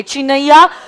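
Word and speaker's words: Chinnaiyya: और case law का नाम लिखिए, चिनैया वर्सेस रम.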